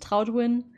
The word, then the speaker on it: Troutwin: It's pronounced Troutwin, so it's not that hard to say in English either.